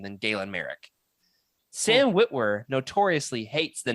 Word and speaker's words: Merrick: Hey, I will say Merrick rhymes with Garrick, so you know, I'm a fan.